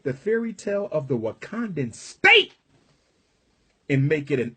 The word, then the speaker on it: Wakanda: And if you're wondering why Wakanda rhymes with Uganda, if you're wondering why